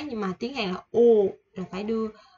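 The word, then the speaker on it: ㅜ: Chữ U. Không phải là chữ ô của mình ha, mà là U. Cái miệng mình phải đưa ra ngoài một chút chứ không phải ô.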